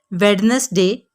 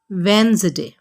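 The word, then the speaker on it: Wednesday: वेडनेसडे is totally wrong. आपने कहना है वेंसडे।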